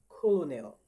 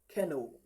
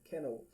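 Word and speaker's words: colonel: Colonial. But it is not colonial. All right. It is actually called kenno. Okay. That's the correct pronunciation. Keno.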